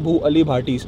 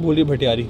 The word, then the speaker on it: भू अली भाटी: Care वगैरह करते थे, उसके नाम पे इसका नाम रखा हुआ है भू अली भाटी, एंड सब लोग प्रोनाउंस नहीं कर पाते तो इसे कहते हैं भूली भटियारी।